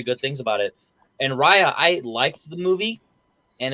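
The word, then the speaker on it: Raya: up against Rya and The Last Dragon it's pronounced Rya technically but um I believe Henry you're up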